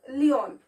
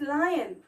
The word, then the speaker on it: lion: Okay, it's not leon, it's lion. All right, it's lion, l-i-o-n. I is coming first, isn't it? Therefore you have to pronounce it as lion, not leon. Okay, or loin, some of the students pronounce it as loin.